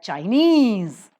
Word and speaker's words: Chinese: Earth that stress shifts China the first syllable is accented but Chinese the second syllable is